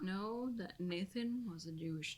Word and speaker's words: Natan: Well, they don't say Nathan in the audiobook. They say Natan. Nathan. I mean, it's Thank spelled you, like- Amber. I Yeah. like this. It's spelled like Because Nathan. So, yeah, I mean, Nathan. I like that more than Nathan. Nathan. Nathan. Mm-hmm. I've known a lot of Nathans. I've never known a Natan.